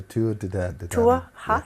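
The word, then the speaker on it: Tuath Dé Danann: The Tuath de Danaan.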